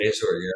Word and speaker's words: Azur: him in the chair, and I think Sybil Azur, is that how I pronounce her Yes, name? Azor, yeah.